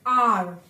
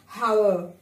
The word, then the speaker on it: hour: This is R. We don't call it as hour. We call it as R.